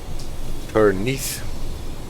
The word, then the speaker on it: Penrith: Now I'm actually not sure whether we are already past Penrith. That is how you pronounce that town.